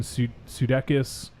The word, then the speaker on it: Sudeikis: Yep, Dan Stevens, Jason Sudeikis, or is that how you say it? Sudeikis? Sudeikis, yeah.